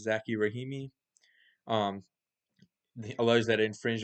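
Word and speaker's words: Zackey Rahimi: So the challenge made it to the Supreme Court because a man named, I believe it's pronounced Zaki Rahimi, um, alleged that it infringed on the Second Amendment rights because of the new law in 2022.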